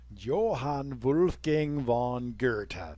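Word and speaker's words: Johann Wolfgang von Goethe: it be successfully exed Johan gang Von Gerta that's how you pronounce that by the way if these you know I bet that there's like a million different Civ channels where they they're like hey it's Johan Wolf Gang Von gith giy it's Gerta that's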